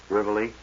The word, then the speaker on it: Rivoli: Rivoli. Oh, is that how you pronounce it?